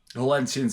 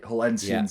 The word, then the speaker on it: Hullensians: Hullensians is right, Flash. That's the right. Hullensians is exactly the right way to say it.